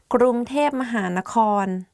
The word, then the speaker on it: กรุงเทพมหานคร: ครูจะอยู่ช่วงบ่ายโมงถึงบ่ายสี่ ได้ค่ะ งั้นหนูไปหาตอนบ่ายสองนะคะ Top 10 hardest word to pronounce. Let's begin. กรุงเทพมหานคร Bangkok กรุงเทพมหานคร If you go to Thailand and